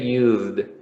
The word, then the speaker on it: used: use the the pronunciation so you will say used okay with d because you have a z sound and not an s another one which is